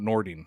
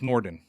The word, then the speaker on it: Nordin: you the right spelling well nordin is not nordine it's norden norton that's how i would pronounce it yeah yes right so